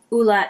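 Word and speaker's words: Ole: Henriksen truth serum and I do believe hula is the right pronunciation it is I I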